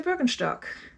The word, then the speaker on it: Birkenstock: them up because they're broken stock and yes that's how you pronounce it because they're german um i cannot tell